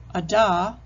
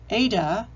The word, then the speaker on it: Ada: For example, Ada can be pronounced as Ada, Ada, or even Ida.